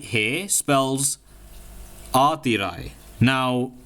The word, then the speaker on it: Aatirai: Guys, I can actually officially announce that this name right here spells Aatirai. Now, how do you spell that? Well, it's A-A-T-H-I-R-A-I, Aatirai.